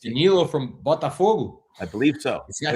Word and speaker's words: Botafogo: It's just you just said it as a Brazilian. I did. It's because I know how you normally, you know, do your your commentating. You always roll your Rs, so I I got to do it for you.